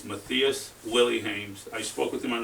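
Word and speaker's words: Mathias Willemijns: That's how you pronounce his name is Matus Willy.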